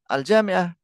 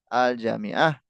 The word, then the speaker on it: الجامعة: في النطق يا إخوة لا تخطئ في النطق الحرف الممدود لابد أن يكون ممدودا مثلا الجامعة الجامعة الجيم ممدودة لا تقول الجامعة لا ولكن الجامعة الجامعة ليس الجميع المعنى بينهما مختلف طيب ini kita tinggal